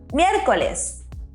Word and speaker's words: miércoles: Did you notice we have an accent there at the E? It's very important to emphasize the E. So it's miércoles.